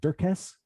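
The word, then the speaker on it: Dirkes: can look for dirks and you'll find me dirks it's d-i-r-k-e-s d-i-r-k-e-s it's uh spelled dirk s but it's pronounced dirks got it all right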